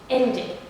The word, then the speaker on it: ended: And this one, if it ends in da before the ed, the base form, da here, da and da, all you have to do is to also pronounce it as id. Ended, ended, ended, decided, decided, decided, needed, needed, needed.